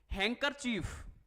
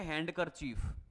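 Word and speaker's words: handkerchief: सर यह तो है हैंडकर चीफ यह हैंडकर चीफ बिल्कुल भी नहीं है। ध्यान दीजिएगा। हैंड कर चीफ। दिखने में तो हैंडकर चीफ है। लेकिन जो ये डी है ना यह साइलेंट है।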